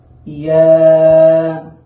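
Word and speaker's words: ياء: ইয়া, ইয়া। এই ইয়ার মাখরাজ হচ্ছে জিহ্বার মধ্যখান তার বরাবর উপরের তালুর সাথে লাগাইয়া ইয়া, ইয়া।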